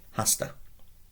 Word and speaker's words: hasta: Latin is is pronounced it's aspirated just like in English so you don't need to overdo it but do pronounce it hasta quite simply like that hasta was a spear very